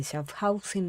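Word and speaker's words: Schaffhausen: Sandra Long que nos está hablando desde Shafhausen. ¿Estás en Alemania, Sandrita? Sí, así se pronuncia.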